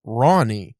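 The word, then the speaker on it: Rahne: uh what was her I'm pretty sure it's pronounced rain yeah but it can also be pronounced Ronnie yeah the spelling of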